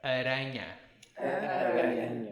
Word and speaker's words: aranha: And spider, one R. Aranha.